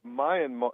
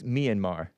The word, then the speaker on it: Myanmar: So American, in American, it's Myanmar. Myanmar.